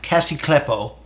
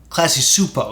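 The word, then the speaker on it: Klasky Csupo: Yes, so the fine folks at Cassie Kleppo, did I say it wrong? Not in Klasky Supo. Classy Supo, excuse me.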